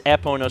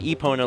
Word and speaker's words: Epona: just wanted to reiterate there is no official pronunciation but if you consider it official with the developers in the song then it's aono so even the people that were saying Epona like I did my entire life as well as EPA are incorrect but technically no one's